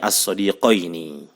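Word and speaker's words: الصَّدِيقَيْنِ: Seperti contoh as-sadiqaini alas-sadiqaini, di fathah huruf qafnya sebelum ya-nya itu di fathah qoi, ya, dan di kasroh huruf setelah ya-nya. Makanya bacanya as-sadiqaini.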